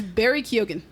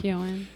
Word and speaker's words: Barry Keoghan: I believe it's Barry Keoghan. Cool, that's why I didn't start with him. Keoghan.